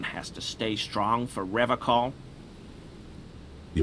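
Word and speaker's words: Revachol: to stay strong for rev call he pronounces Revol with a hard K unlike other people I I like to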